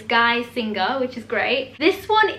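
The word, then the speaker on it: Geissinger: actually messaged me because on my last video i was pronouncing it wrong and completely butchering her name so it's guy singer which is great this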